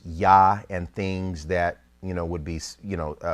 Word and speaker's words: Yah: in their supposition that the theophoric pronunciation for the Creator's name, in the South, in other words, in Judea at Jerusalem, was Yah, and things that would